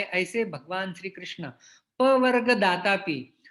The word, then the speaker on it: कृष्ण: तो जब हम कृष्ण शब्द का प्रयोग कर रहे हैं तो न उच्चारण करते समय हमारी जिह्वा दांतों को स्पर्श नहीं करनी चाहिए, न नहीं होना चाहिए, वो ण है, ण, कृष्ण।